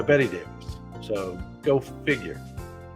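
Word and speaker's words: Bette Davis: a B tte Davis which you would normally pronounced bet Davis but she went by Betty Davis so go figure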